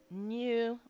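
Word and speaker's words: 入: Um, you're given a new one. Why? No idea. But hey, it's new. Okay, so new with the U elongating the U.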